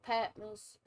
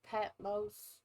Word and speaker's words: Patmos: as john the patmos i say patmos i've heard people say patmos that's i learned here in the south i learned patmos so i'm saying it wrong that's how's race but